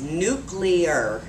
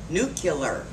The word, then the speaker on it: nuclear: very famous for mispronouncing this word the correct pronunciation is nuclear not nuclear i find nuclear harder to get out of